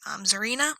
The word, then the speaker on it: Zarina: We're going to end with the newest survivor released, Zarina, I think is how you pronounce her name.